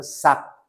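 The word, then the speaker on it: 삵: 그 실제 발음은 어때요? 이렇게 되는 거죠. 싹 그죠? 삭입니다. 삭. 그래서 발음은 삭이에요. 사크 아닙니다.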